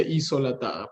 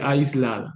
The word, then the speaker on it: aislada: Ojo a esto, no se dice isolatada, por ahí está muy mal pronunciada, no se dice isolatada, se dice aislada, ¿no?